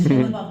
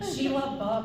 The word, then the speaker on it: Shia LaBeouf: Like, it's Shia LaBeouf, just do it. Like, and yeah, the shot. That's how you pronounce it. I was gonna pronounce his name. Sheila Buff.